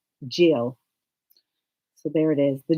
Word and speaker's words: Gisele: We typed in the name and we listened to the pronunciation and it came up Gisele.